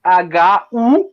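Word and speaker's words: Cthulhu: na época da criação, indicam que nós teríamos que pronunciar o ct com aquela ideia do fonema do th em inglês. Thu seria isso. E aí o lhu seria ru. Então a pronúncia mais aproximada seria hu algo assim.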